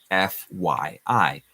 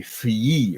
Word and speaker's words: FYI: This is pronounced F-Y-I. We couldn't really say fy-ee or something like that, so be careful never to pronounce it another way other than F-Y-I.